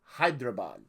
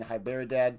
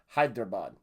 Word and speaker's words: Hyderabad: my video on srh i killed hyderabad quite a few times pronounced pronouncing that name oh i hope i'm saying it correctly this time i think last time i kept saying hi bear dad i got the b and the d mixed up hyderabad and this